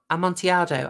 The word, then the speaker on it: Amontillado: Oh, Amontillado. I pronounced it English style.